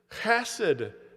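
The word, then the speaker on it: חסד: The Hebrew word here is chesed, as Carissa tried to pronounce with the children.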